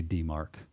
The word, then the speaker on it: DMARC: Would you pronounce this DMARC? DMARC.